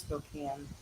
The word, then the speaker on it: Spokane: Okay, so I guess the first Father's Day was actually in 1910 in Spokane, Washington. It's actually pronounced Spokane.